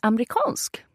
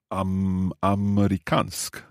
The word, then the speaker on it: amerikansk: Jag är amerikansk. Say that again. Jag är amerikansk. It sounds quite fast there. So is it amerikansk? Amerikansk? Yes, it's almost like you drop the E.